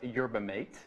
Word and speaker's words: yerba mate: just informed me is the proper way to pronounce yerba mate.